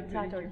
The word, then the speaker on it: Tatort: I think your most known roles are the one from Tatort. Am I saying it right? Yeah, Tatort, yeah.